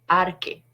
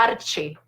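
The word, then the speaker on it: ἀρχή: es la palabra arque yo la leería así arque si la lees directamente con acento en español diría arche en el diccionario griego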